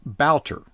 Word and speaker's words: Wouter: It is Wouter. Yes, it is Wouter. That's not how it's spelled.